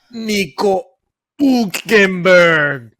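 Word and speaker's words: Hülkenberg: Nico Hulkenberg.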